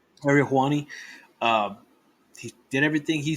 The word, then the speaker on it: Ariel Helwani: Showing the video of CM Punk doing what he said during the Ari Hawani, how you say his name? Ariel Helwani. Ariel Helwani.